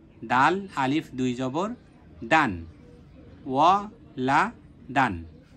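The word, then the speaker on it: وَلَدًا: জবর লা লা দাল আলিফ দুই জবর দান ওয়া লা দান লা দান লা দান এরপরে একসাথে উচ্চারণ করব ওয়ালাদান ওয়ালাদান ওয়ালাদান এগুলো যখন হয়ে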